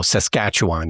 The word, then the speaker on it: Saskatchewan: but for future reference it's emphasis on the second syllable and you just let everything else just go Saskatchewan you just let just